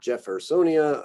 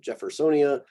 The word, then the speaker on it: Jeffersonia: Other ones get more of like an English J sound, Jeffersonia, obviously named for a person here. So Jeffersonia, Jovibarba, Joglans, Juncus, Juniperus,